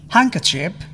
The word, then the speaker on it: handkerchief: D is not pronounced in the following common words: handkerchief, sandwich.